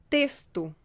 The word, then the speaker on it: texto: E S, como em texto.